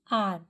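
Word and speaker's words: hour: Then आर, एच, H consonant है तो हमें ए लिखना चाहिए, लेकिन आर हमने क्या पढ़ा? आर। यहाँ पे एच साइलेंट है, आर है।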